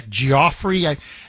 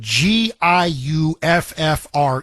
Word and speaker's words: Giuffre: Remember Virginia Giuffre? Everybody says her name differently, but so I've heard multiple pronunciations. But Giuffre. So Giuffre, however you pronounce her last name, she came out and said, I'm not suicidal.